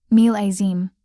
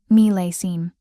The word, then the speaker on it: millésime: He'd said, meel-ay-zeem, when it should be, meel-ay-seem.